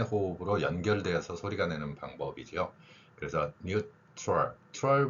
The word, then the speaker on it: neutral: 짧게 한 번의 호흡으로 연결되어서 소리가내는 방법이죠 그래서 뉴트럴 트럴 발음이 같은 경우에 트럴이 아니라 트 이렇게 연결돼서 뉴럴 이렇게 발음할 수 있는 것이죠 이러한 그 겹친 발음의